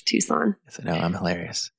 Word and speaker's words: Tucson: It is not Tucson. That's how it's spelled. It's Tucson.